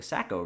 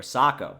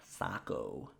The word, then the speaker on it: Saco: confirmation it's the sako the a is pronounced with an o sound socco river saco so anyways it's like